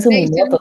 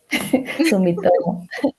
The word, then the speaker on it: Sumitomo: O sea, Sumitomo, Sumitomo. gracias, con M. Antes nos dicen Corporation, Sumimoto también. Sumitomo.